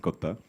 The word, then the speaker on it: Kotha: King of Kotha and not the usual Hindi pronunciation. So it's in the film Kotha, in Malayalam it's Kotha.